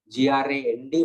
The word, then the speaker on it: grand: The previous one is known as the generalized seizures, are known as grand mal, G-R-A-N-D, but pronounced as grand.